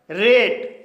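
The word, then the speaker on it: rate: होता है जैसे रेट रेट एक सिंगल सिलेबल वर्ड है क्योंकि इसमें एक वाल साउंड आया है और इसके अंत में एटी ई आया है इसलिए ए का उच्चारण ए होगा इसलिए इसे रेट पढ़ा जाएगा सेपरेट यह एक मल्टीपल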